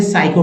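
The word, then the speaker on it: psycho: एस आ जाता है तब पी साइलेंट हो जाता है जन जैसे देखिए इसी तरह के वर्ड मिलते हैं आपको जैसे साई इसमें एस सस में जो है पी सा पी साइलेंट है साइको पढ़ेंगे यहां पी साइलेंट है साइकोलॉजी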